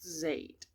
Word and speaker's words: Zade: If I'm not mistaken, it's pronounced Zade.